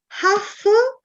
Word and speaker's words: half: Half la L non si sente, come se non esistesse. Ci sono spessissimo lettere in inglese che non si pronunciano. Half, la L è una di queste.